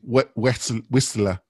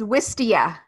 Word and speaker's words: Wistia: Whistler. How do you pronounce it, Cindy? Here, Jonathan, it's Wistia. Wistia.